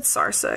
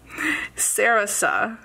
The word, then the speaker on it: Sarasa: tooy River paper planners I think I said sarsa again anyways did I spell that wrong I did sarasa I do like this